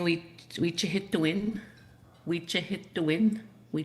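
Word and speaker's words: wîcihitowin: You're saying we hit to win. We hit to win. We hit to win. It is spelled W-I-Macron, C-I-H-I-T-O-W-I-N.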